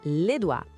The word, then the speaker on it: les doigts: A pronúncia pode parecer estranha no começo, mas é les doigts. Aquele conjunto de letras OI quase sempre soa como o A em francês. E todo aquele GTS no final.